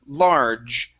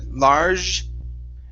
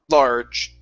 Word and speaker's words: large: So here, the J is pretty tough and it's short. Okay, so it's J, John, and large. Okay, so let's try large first here. So it's large.